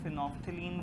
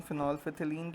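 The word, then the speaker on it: phenolphthalein: हां लिखो हां लैब लिखो और नंबर टू इज़ फिनोल कुछ टीचर फिनोफ्थलीन बोलते हैं इसे कुछ फिनोलफिथिलीन बोलते हैं मैं प्रेफर करता हूं फिनोलफिथिलीन क्योंकि इससे स्पेलिंग याद रहते हैं बच्चे को ना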